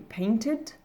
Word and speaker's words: painted: Et en fin de dernière colonne, mon ED va se prononcer id, donc ce qui va donner painted, wanted, recorded.